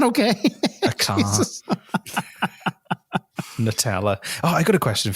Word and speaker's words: Nutella: I don't know why you go Nutella. You don't. Why would you soften the nut?